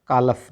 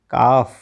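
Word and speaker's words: calf: ऐसे ही एल एफ में भी एल साइलेंट रहता है। सी ए एल एफ कालफ नहीं काफ। ठीक है? सी एल एफ को क्या पढ़ना है? काफ पढ़ना ना कि कालफ। एच ए एल एफ को क्या पढ़ना है हमने?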